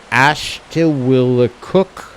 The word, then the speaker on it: Ashuwillticook: Ashuwillticook. Ashuwillticook.